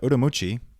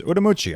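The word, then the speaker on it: Ürümqi: a domestic flight to urui if you look on a map it's spelled Ur ru mqi uh for some reason in Mandarin it says ucci I don't know how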